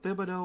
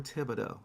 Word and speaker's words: Thibodeau: And is it is it Thibido or Tibido? Because I've heard it pronounced both ways. I always say Tom uh Thibido, but I've I've also heard like the H is silent, you know, like Django.